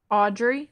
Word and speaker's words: Audrey: Audrey.